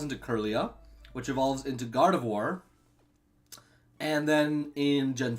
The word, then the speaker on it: Gardevoir: It sounds phonetically like it'd be Gardevoir, but it is Gardevoir.